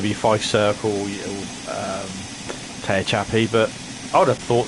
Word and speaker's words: Tehachapi: I always say Tehachapi. That's how they pronounce it on the video that I've got.